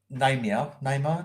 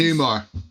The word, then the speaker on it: Newmar: The woman on the, if you go back up, Phil, Julia Namer. Yeah. That's Catwoman at the Batman. Judy 60s. Newmar.